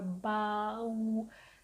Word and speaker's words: bau: But don't take it as two syllables. Just take it as one syllable. So bau, not bau or bau. Actually, it is bau.